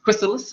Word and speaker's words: Chrysalis: Just Chrysalis, is that how we're pronouncing it? Okay, yes. I was saying Chrysalis. Okay, Chrysalis.